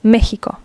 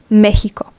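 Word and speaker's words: México: with an X but this x extraordinarily is pronounced as a h as a j so it is not Mexico in Spanish it is Mexico Mexico this x is like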